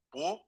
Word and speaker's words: può: Può, pronounce può, aiutarmi, per favore, per favore.